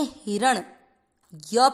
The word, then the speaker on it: हिरण्य: हिर, हिर, ही छोटा है, र में अ मिक्स किया, देन अण। जो आपने प्राणों में अण दिखा ना, ये वो ही है अण आधा, तो इसको पढ़ेंगे हिरण। य पूरा, य में अ मिक्स कर दिया, हिरण्य, हिरण्य।